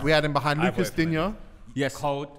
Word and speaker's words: Digne: He don't get the French pronunciation. He's Digne. Why are you trying to make it sound like a Pokemon? Because he's Digne.